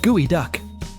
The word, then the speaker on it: geoduck: Meet the Geoduck, spelled G E O D U C K, but pronounced gooey duck.